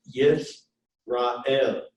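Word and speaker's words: ישראל: So, for example, in this word Yisrael, that schwa is what we call silent. And there's actually only 3 vowels here. It's Yisrael.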